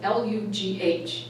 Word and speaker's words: Lugh: That's spelled L-U-G-H, Lugh.